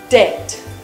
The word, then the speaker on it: debt: alright so remember poor not what dipped Det debt guess what the but in this word is silent so we just ignored and say that